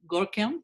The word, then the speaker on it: Görkem: between Mehmet and maybe Görkem, if that's the correct way to pronounce his name. Görkem mi isminiz? Doğru mu söylüyorum? Doğru bir şekilde mi söylüyorum bilmiyorum ama. Evet, evet. Doğru söylüyorum. Yes, that's the right way to pronounce my name.